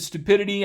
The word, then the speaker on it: stupidity: the roots of stupid the stress is on the first syllable stupid you put more emphasis on that first syllable and then for stupidity that emphasis shifts over here to the second syllable of stupid stupidity because we're adding